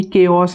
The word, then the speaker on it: chaos: एक वर्ड हमने अभी भी देखा, कायरोप्रैक्टर, कायरोप्रैक्टर, केओस, CHAOS, ये चाओस नहीं है, ये केओस है।